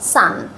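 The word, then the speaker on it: son: তোমাদেরকে আরেকটা লেসনে বলেছিলাম ও থাকার পরেও এর উচ্চারণটা হয় সান যেরকম সূর্য এর ইংরেজি সান সেরকম এস ও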